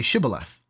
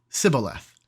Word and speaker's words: shibboleth: said no they said to him then say shibboleth and he said sibboleth for he could not pronounce it right Then They seized him and